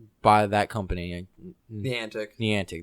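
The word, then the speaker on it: Niantic: that company the antic the antic that's how you say it by the antic they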